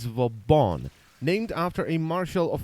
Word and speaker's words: Vauban: for the review I finally found the correct pronunciation it's Von named after a marshall of France and the